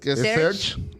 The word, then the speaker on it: Serge: Ni yo sé pronunciar estos nombres que están bien raros. Es Serge.